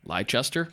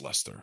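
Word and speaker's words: Leicester: Maple Hill Disc Golf in Lester Massachusetts USA leester leester I believe it's pronounced Lester Lester yeah Lester ler it's like wierer ah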